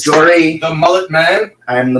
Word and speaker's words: Jory: Jory. Jordy. Jory. Jordy. All right, Jory. I didn't know. Corey with a J.